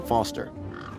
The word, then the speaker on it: Foster: so it does i'm foster i'll remember that easy because your name rhymes with fossil and you're old thanks